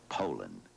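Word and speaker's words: Poulan: And for over 30 years, they've been mispronouncing our name. Poland. Poland. So we'd like to remind you that our name is Poland.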